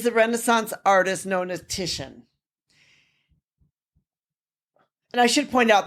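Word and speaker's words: Titian: artist is is the Renaissance artist known as tishan and I should point out that some people may actually pronounce it uh Titanium because the way it's it's the way that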